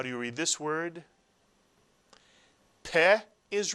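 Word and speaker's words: פה: Another Hebrew word, one syllable, with the pay. How do you read this word? Peh is right, peh.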